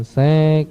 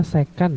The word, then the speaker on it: secan: Sedangkan sek ini artinya adalah, dibacanya sekan ya, jangan sek.